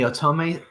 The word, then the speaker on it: otome: Code Realized, if you don't know, is it's well known in the otome scene. Because I don't know. I can never pronounce that word.